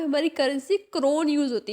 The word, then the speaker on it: krone: तो क्रोन को हमें यहाँ पे हमने क्या करा है, KRONE स्पेलिंग होती है, बट हमने उसको क्रोन से यानी कि ताज से डिफाइन कर दिया है। प्रोनाउंसिएशन सेम है तो आप इजीली समझ सकते हैं।